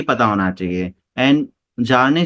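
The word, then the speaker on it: Bjarne: एंड जार्ने स्ट्राउस्ट्रप बी इसमें silent रहता है, जार्ने स्ट्राउस्ट्रप ने इसे डेवलप किया था।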